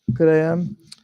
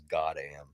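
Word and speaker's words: GO:OD AM: You want to talk about Good AM? I always thought it pretty was much pronounced agree with God what you AM.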